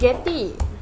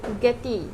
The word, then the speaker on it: geti: Puan Google kalau sebelah utara disebut daun geti. Daun? Geti. Geti. Geti, macam tu lah.